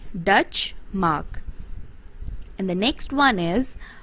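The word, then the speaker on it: Deutsche Mark: currency of germany and it is pronounced dutch mark it is spells d e u t s c h e dutch mark and the next one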